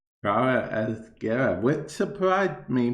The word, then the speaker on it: Gara: is going to be about a pronunciation of a warfare. Gara or Gera? Gara.